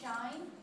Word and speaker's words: shine: So the first one, remember that the E is silent, and so the I takes the long sound, shine.